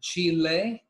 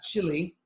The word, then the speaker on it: Chile: And by the way, you pronounce it Chile, not Chile.